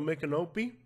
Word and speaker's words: Micanopy: when you go to make an Opie which I hope is the right pronunciation the Mik is like Miccosukee Micanopy is a name